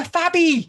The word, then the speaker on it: Fabby: to a Gould, and now I've got an extra syllable. I'm a Fabby, and I love being a Fabby because I'm fab.